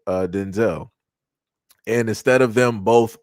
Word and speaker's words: Denzel: It's pronounced Denzel, which is crazy.